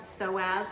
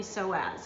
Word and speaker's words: psoas: to maintain a healthy psoas and it's spelled p-s-o-a-s so the p is silent so you'll need uh